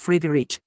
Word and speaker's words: Friedrich: which means peaceful ruler it is pronounced freely rich and I'm from Sunny